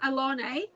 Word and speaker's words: Alane: name is Alane, but I spell it with ALANE.